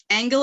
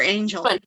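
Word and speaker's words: Angell: So that was my reasoning for using the hard G.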